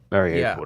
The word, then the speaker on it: Mariupol: Mariupol, that's the pronunciation.